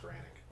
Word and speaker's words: Nagranic: No, I think it's just Granic. Granic. The N is silent.